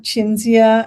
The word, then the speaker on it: Cinzia: the day um so um so I have chinia and pavani um am I pronouncing your name correctly uh yeah okay good